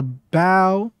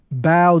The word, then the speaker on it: BAO: gonna be reacting to bow I believe that's how you pronounce it bow Joey late nights just